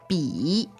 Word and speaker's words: 笔: Bi. Bi. Okay, third tone.